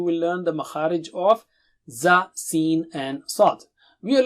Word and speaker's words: ز: Alright, so how do you say Za? Touch the tip of the tongue to the edge of lower teeth and blow with a strong sound.